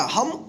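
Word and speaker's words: home: तो इस ओ का हम ओ उच्चारण करेंगे।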